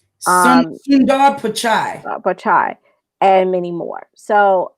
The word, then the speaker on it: Pichai: Google CEO Sundar, and excuse me if I pronounce this incorrectly. I want to say Pichai. Sundar Pichai.